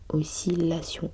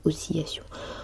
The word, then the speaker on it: oscillation: Même prononciation pour oscillation. Oscilation et non pas oscillation.